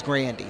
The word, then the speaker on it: Grande: It's Grande in my humble opinion, but he says, I guess the real pronunciation's Grandy, so.